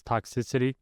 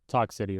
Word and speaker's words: Talk City: Yes, I know it's not pronounced as Toxicity. It's pronounced Talk City, right?